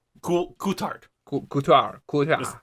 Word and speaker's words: Coulthard: then David Coulter cool Coulthard cool guitar cool yeah it's got a D at the end B no you know it's pronounced mostly French except for the end then you just say the D it doesn't matter here